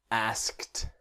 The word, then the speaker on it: asked: But the ED is not asked, it's asked. Asked.